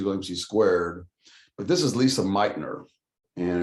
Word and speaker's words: Lise Meitner: squared but this is lisa meitner and it's not lisa it's l-i-s-e it's still pronounced lisa meitner she uh got the